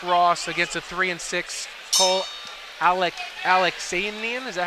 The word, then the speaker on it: Alaxanian: So we have an undefeated 2-0 fighter in Nick Ross against a 3-6 Cole Alaxanian.